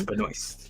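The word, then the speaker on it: Benoist: back to the uh Supergirl CW uh Melissa Beno that's how you pronounced the last name yes Beno uh so that's from the series so we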